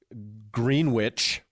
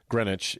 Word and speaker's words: Greenwich: Catholic High School in green witch Connecticut and I think I nailed both those pronunciations I think so I think that's exactly right you pronounced all the letters that's how words work that green witch um